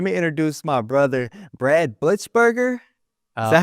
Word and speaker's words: Blitzberger: But without further ado, man, let me introduce my brother, Brad Blitzberger. Is Uh, that how you say it? Blitzburger, yeah.